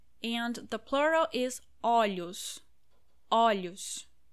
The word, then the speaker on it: olhos: Olhos. The pronunciation changes a lot. Olho, olhos.